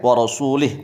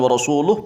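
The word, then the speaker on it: وَرَسُولِهِ: Bil jarri, dengan membacanya jar, wa rasulih, bukan wa rasuluh, bukan wa rasulah, tapi wa rasulih.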